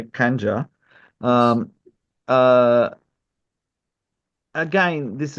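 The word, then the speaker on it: Khanjar: This is I'll pronounce it the Indian way, Kanja.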